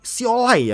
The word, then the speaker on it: Siolai: Selanjutnya ada PUBG Esports yang di sini juga muncul nih beberapa pemain baru nih, Siolai ya dibacanya.